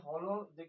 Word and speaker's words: Holozoic: यानी कि होलोजिक nutrition, basically हम जब इसे प्रोनाउंस कर रहे हैं तो हमारे पास दो वर्ड्स आ रहे हैं, एक आ रहा है होलो और दूसरा आ रहा है जोइक। होलो और सेकंड वन इज जोइक।